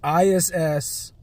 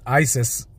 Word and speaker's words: ISS: But anywho, then they got ISS It's important that I say it that way because ISIS, the way that it's pronounced, is weird.